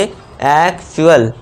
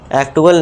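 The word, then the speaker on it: actual: तो इसे क्या पढ़ेंगे एक्चुअल एक्टल नहीं अब यहां टी का उच्चारण च देना है ट नहीं देना च का देना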